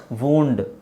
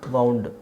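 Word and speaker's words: wound: ಇನ್ನೊಂದು ವೌಂಡ್ ವೌಂಡ್ ಸರಿನಾ ವೌಂಡ್ ವೌಂಡ್ ವೌಂಡ್ ವೂಂಡ್ ವೌಂಡ್ ವೂಂಡ್ ಅಂದ್ರೆ ವೌಂಡ್ ಅಂದ್ರೆ ಉ ಅಂತ ಉಚ್ಚಾರಣೆ ಎಳಿಬೇಕಾಗಿಲ್ಲ ವುಂಡ್ ಅಂತಾನೂ ಹೇಳಬಹುದು ವುಂಡ್ ಅದು ಗಾಯ ಗಾಯಕ್ಕೆ ವುಂಡ್ ಅಂತ ಹೇಳೋದು ಇನ್ನೊಂದು ವೌಂಡ್ ಅಂದ್ರೆ ಸುತ್ತಿರುವ ವೈಂಡ್ ವೈಂಡ್ ದು ಪಾಸ್ಟ್ ಟೆನ್ಸ್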